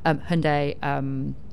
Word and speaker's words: Hyundai: properly, we're out the future of the car, Hyundai Ioniq 5s, and And I am reliably informed